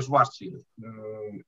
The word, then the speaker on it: Schwarzschild: El primero sería el agujero negro de Schwarzschild, como se pronuncia en alemán.